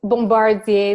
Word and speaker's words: Bombardier: The last name, it's Bombardier. It's very French pronunciation, so it's okay.